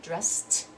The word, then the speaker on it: dressed: have brushed brushed and then dress of course that's sound there's no vibration so we're gonna have dressed dressed so we go down